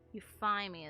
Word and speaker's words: Euthymia: The true Raiden Shogun, who meditates endlessly in the plane of Euthymia to preserve her being. Euphymia is how the game wants it pronounced.